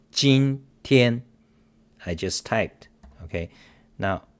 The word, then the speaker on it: 今天: Okay, now remember this last part is pronounced 今天.